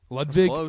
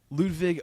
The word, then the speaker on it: Ludvig: Levig. Ledwig. Ludvig. Ober. But it's spelled Aberg.